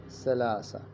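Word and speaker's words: ثلاثة: three in Arabic the three is called salasa salasa salasa is written like this in Arabic in Arabic counting it is written like this and we have to pronounce in Arabic three is salasa salasa now four in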